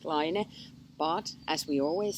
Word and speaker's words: Laine: because it's all also it's not just a French word for wall so it's also a Finnish word meaning a tiny wave in the ocean and we pronounce it liner but as we always